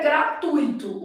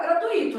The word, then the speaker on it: gratuito: tipo essa daqui ó o certo é gratuito O problema é que há pessoas que vão falar gratuito aí fala errado divide errado né gratuito aqui a gente tem um diton então obviamente a pronúncia